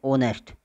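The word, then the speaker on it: honest: इन लगेगा एग एंड ऑनेस्ट इसको हो नष्ट नहीं करते इसको ऑनेस्ट उच्चारण करते हैं क्या करते हैं ऑनेस्ट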